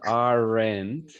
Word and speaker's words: aren't: No decimos aren't, porque esa E es muda. Esa E no la pronunciamos, solo pronunciamos el sonido de la N y de la T.